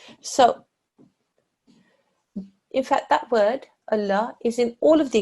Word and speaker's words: Allah: it carries a Fatah if that letter carries a Fatah then this lung becomes a thick and heavy sound in the word Allah look for the letter